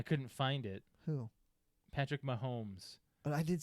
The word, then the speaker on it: Mahomes: Patrick Mahomes. But I did say it. I did You say said it wrong. Patrick Holmes.